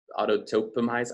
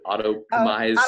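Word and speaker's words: Autoptimize: Auto-topomize, I can never pronounce that plugin properly. Auto-optimize, that's it.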